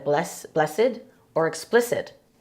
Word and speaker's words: Bles-sed: Because you want to make sure you pronounce it as blessed.